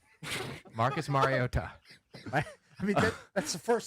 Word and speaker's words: Mariota: He emphasized the first syllable, scolded us over the first syllable usage, never the last Mario.